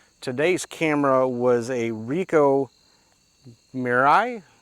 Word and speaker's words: Mirai: Today's camera was a Ricoh Mirai. I'm not sure how to pronounce it, but M-I-R-A-I, Mirai. Almost like a Mirage, but maybe just Mirai.